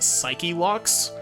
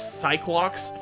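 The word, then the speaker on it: Psyche-Lock: these psych okay so technically speaking these are supposed to be pronounced psyche locks but Cyclops fits better and so I'm gonna be pronouncing it Cyclops just because like fits better phonetically but just just know that I am intentionally pronouncing this wrong only you can see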